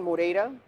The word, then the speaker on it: Moreira: Uh first name uh Mora. All right. People have a little trouble with the pronunciation on that last name a lot of times.